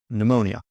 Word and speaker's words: pneumonia: Pneumonia.